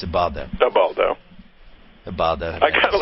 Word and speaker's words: Ubaldo: I wish it was for a better pitcher than Ubaldo. Is it Ubaldo or Ubaldo?